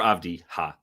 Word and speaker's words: Avdija: Technically, I think it's Avdija because he is Israeli. Oh. Would not have guessed that, I bet. Denny Avdija or Avdiha.